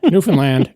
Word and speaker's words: Newfoundland: So, there you have Newfoundland. It rhymes with understand in case you ever want to know how to pronounce it.